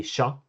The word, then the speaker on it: tja: It's sort of like in shoe. sort of like in shoe like if I like a very common like colloquial greeting in Swedish might be sha tja sha or like like checka